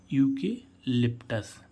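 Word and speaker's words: eucalyptus: ही गा इसमें देखें ई यू सी ए एल वाय पी टी यू एस तो यहां पर भी क्या आ रहा है य ई यू तो इस यई का क्या उच्चारण हो रहा है यू तो हम इसको क्या पढ़ेंगे यूकेलिप्टस क्या पढ़ेंगे यूकेलिप्टस यूकेलिप्टस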